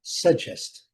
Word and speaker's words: suggest: Então, a pronúncia, né, mais recomendada para esse caso aqui, suggest, suggest, o o G, né, com esse som aqui, J.